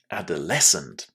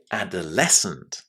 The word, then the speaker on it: adolescent: Did you put the stress on that last syllable just the way I did? Well, if you didn't, this is exactly how we need to say this word. The stress there is on the last syllable.